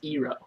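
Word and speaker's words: Iroh: how you pronounce the stuff iro is not pronounced iro it's pronounced ero and I think is not pronounced dang it's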